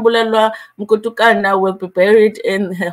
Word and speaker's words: Mkutukana: a video about Zahara, and they pronounced the surname Mtukutana, and I was like, yo, I'm glad I'm not the only one, because I always mix it up as well. It's Mkutukana, but sometimes you just